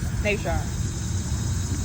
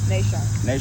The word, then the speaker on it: NaShan: Nan. How you say it again? Nan.